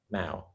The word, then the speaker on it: Mao: So with that, now is it Mayo? Am I pronouncing that? What's the proper pronunciation there? Now, Mao. Okay, Mao.